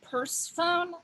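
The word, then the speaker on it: Pursephone: that um fun fact used to be called persephone but it was spelled like purse like a handbag like p-u-r-s-e and even though it's one word people kept going purse phone this is called purse phone like like you know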